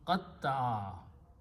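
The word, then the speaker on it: قطّع: Okay, but if I take these three letters and add a shadda or tashdid on the middle letter and pronounce qatta'a, this means to separate.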